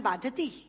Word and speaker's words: बाधते: कष्ट दे रहा है, क्योंकि बाधती शब्द का अशुद्ध उच्चारण आपने किया है। ये शब्द बाधते होना चाहिए।